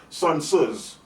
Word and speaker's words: Sun Tzu: Okay, like Sun Tzu's. Sun Tzu's, you can pronounce the T and the Z at the same time.